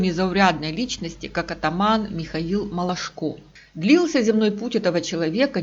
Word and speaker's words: Малашко: Самое главное, что фамилия Михаила все-таки Малашко, с ударением на последнем слоге, а не Мылашко, как часто пишут и говорят.